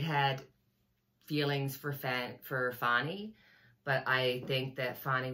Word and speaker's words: Fani: of the picture and let Fanny move on fonnie move on I know her name is I I was listening to her father and her say her name fonnie um yeah so she's